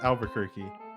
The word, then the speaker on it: Albuquerque: is it literally just pronounced Albuquerque?